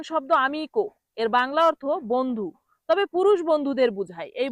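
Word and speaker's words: bene: ইংলিশে বলা হয় ফাইন তাহলে এই বেনে এটাকে যখন ভুল উচ্চারণ করে তখন কি বলে তখন বলে বেনি তখন কি বলে বেনি বলে বেনেকে বলে বেনি তাহলে বেনি বলা যাবে না কি বলতে হবে বেনে বেনে অর্থ ভালো পরের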